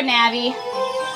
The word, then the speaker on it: Navi: I pronounce her name Navi na'vi same thing but her name sounds like navigate so Tech I mostly call her Navi cuz it's short for navigate so yeah hello hello